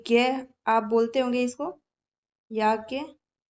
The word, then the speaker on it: याज्ञवल्क्य: आप बोलते होंगे इसको, याज्ञवल्क्य। एक्चुअली में ये ज्ञ नहीं होता है, इसको बोला जाता है ज्य। ठीक है, इसका जो प्रोनाउंसिएशन है वो ज्ञ नहीं होता, ज्य होता है।